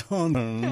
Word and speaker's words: Hunton: See, if you had a Ponzi accent and you could say Hunton, nobody would ever miss the N. That's true. It's very pompous. It kind of is, actually, yeah. It's Hunton. Gotta say it like that.